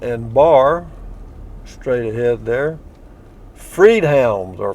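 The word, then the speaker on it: Friedhelm: bavarian inn restaurant and bar straight ahead there freed hounds or freed helm is how that's how it's pronounced freed hounds bavarian inn authentic german food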